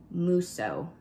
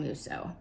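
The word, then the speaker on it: Mousseau: of that is anne musso i think that's how you say your last name i'm gonna butcher these of some of these but it's m-o-u-s-s-e-a-u so i believe ann musso you're the winner of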